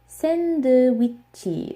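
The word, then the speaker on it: 샌드위치: The A sound has the same sound as in cat. It's like cat, sandwich. But this doesn't exist in Korean. The closest sound that they have is e, so they always say sandwichi. That's how you pronounce this. So sandwich in Korean is sandwichi.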